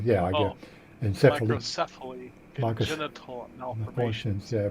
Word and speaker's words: microcephaly: Microencephalitis. That's not encephalitis, but yeah, I get Oh, encephaly. microcephaly, Micros- congenital Malformations, malformations, yeah, premature premature birth, death, yeah, and miscarriage.